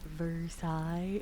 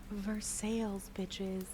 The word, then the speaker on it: Versailles: And they like, "Um, Versailles." And I'd be like, "Wrong. sales and they were so pissed.